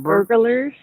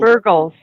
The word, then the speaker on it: Burgles: you say your name mr burglars no girls burgles burgles okay mr burgles we met